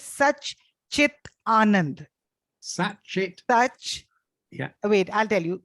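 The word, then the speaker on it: सच्चिदानन्द: And, the second word is it sounds to me like Sachidananda. It is such chit anand.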